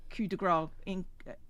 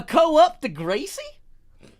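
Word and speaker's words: coup de grâce: Got angry at me the other day for saying coup de grace. No, you didn't say it correctly. You said it incorrectly. And I didn't get angry at you. I got annoyed. There's a difference. Wait. Let me give this a go. Don't. A co-op to Gracie? Almost. Was that it? Or was it more Italian? Like, co-op to Grazie? No, it was Coupe de Gracie, was the way they pronounced it.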